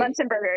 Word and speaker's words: Muenzenberger: Muenzenberger. Did I say it right? Muenzenberger, yep.